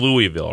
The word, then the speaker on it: Louisville: or not but you know we were in Louisville right I know Marv took it over from